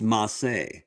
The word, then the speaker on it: Mace: it's actually pronounced Masse.